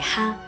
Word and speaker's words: 蝦: Il gambero, la cui pronuncia cantonese è ha, suona come una risata felice, ed è quindi un piatto ricorrente in molte celebrazioni.